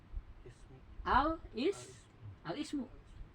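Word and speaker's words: الاسم: Jadi gimana bacanya? Al ismu.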